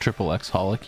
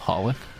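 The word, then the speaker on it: xxxHOLiC: not pronounced triple X holic? You know that the X's are all silent? It's just called holic?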